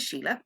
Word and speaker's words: Sile: so I suppose I my name is Sheila it's spelled funny because it's spelled in the Irish way I'm based in Ireland